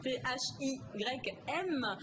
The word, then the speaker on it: thym: Alors, on va parler de teint, mais pas le même teint, ça s'écrit pas pareil. Donc le teint T-H-Y-M, parce qu'on va parler de sirop de thym.